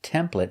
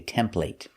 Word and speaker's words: template: Now this word is pronounced template in America, but in England they say template. But we're teaching American English, so we pronounce it with the sound.